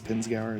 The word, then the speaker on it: Pinzgauer: Probably more of a, I think it's Pinzgauer is how it's pronounced.